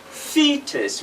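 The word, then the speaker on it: foetus: like that which is f or e tu s which is fetus which is what theta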